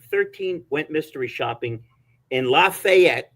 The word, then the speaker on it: Lafayette: And yet, uh, I just had 15 people, I think 13, went mystery shopping in Lafayette, that's how they pronounce, not not Lafayette, Lafayette, Georgia.